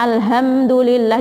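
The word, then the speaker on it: الحمد لله: membaca al-quran alhamdulillahirobbilalamin kita bacanya Alhamdulillah diganti dengan huruf H karena tidak karena ketidaktahuan atau mungkin karena sengaja atau karena tidak mau belajar dari hadyu dari HD Ubah menjadi Ha ini Pak Apa kesalahan yang sangat fatal bisa merubah maknanya karena al-hamdu jadi tu adalah kerusakan kalau Alhamdulillah segala puji seperti juga misalkan kita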